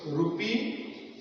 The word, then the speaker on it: rupee: First is ru and second is p. Rupee. This is pronounced like rupee.